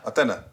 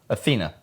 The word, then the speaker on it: Athena: ] in there yeah aena Athena it's a long e say toilet toilet there